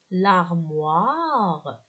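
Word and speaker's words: l'armoire: طب خلينا نشوف هون، عندي لاغ لارموار، الاو اي بالفرنسي صوتها وا مع الام بتصير موا، لارموار، والاو بتعطي صوت تسمح للحرف الصحيح ينطق، إذا الأو بتعطيني تسمح للحرف اللي قبلها ينطق، راح تصير لارموار ومعناها الخزانة.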